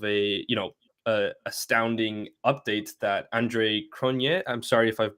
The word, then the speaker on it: Cronje: I say Cronje as well, and I joke because it sounds like saying Kanye, like Kanye West.